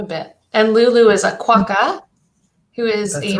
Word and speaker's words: quokka: I'll write quokka on here, because just so that people know how to spell it, because So that's that's Quuo.